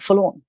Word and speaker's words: Forlorn: At least they're not spelling it like a lawn, like you mow a lawn. Just a four.